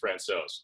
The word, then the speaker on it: Francouz: I think I've heard I think I've heard it on play-by-play as Francouz. Yeah. I think that's the, I guess, North American pronunciation that's widely accepted on the broadcast.